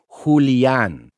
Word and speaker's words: Julian: We have nicknames for him like Julian, but with a Spanish pronunciation, like Julian.